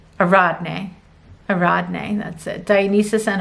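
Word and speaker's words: Ariadne: Okay, so we have, Dionysus and, I always say this name wrong, Aradne, that's it. Dionysus and Aradne.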